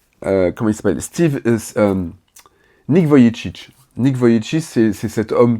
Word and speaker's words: Vujicic: mode je pense à comment il s'appelle Nick Vujicic.